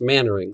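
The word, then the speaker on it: Mainwaring: spelled main wearing but i've also always been told that it's pronounced mannering so that's what we're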